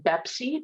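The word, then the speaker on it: BEPC: contract model toolkit or bepsi pronounced like pepsi but with a b as in boy um so what is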